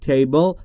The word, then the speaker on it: table: Table که میدونید یعنی میز و تلفظ درستش table. بل بل.